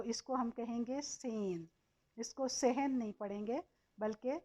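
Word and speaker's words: zehn: अब सेन में, सेन को के स्पेलिंग आप देखेंगे तो ये सेट ए हा एन है। इसमें हा जो है हा की आवाज़ नहीं देता, बल्कि ये ए की आवाज़ को लंबा करने के लिए आया है, तो इसको हम कहेंगे सेन।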